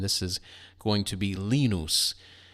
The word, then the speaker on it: Linus: Linus from Peanuts, but here we pronounce it Lenos.